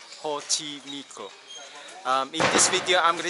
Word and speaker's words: Xochimilco: Yes, it's pronounced Xochimilco.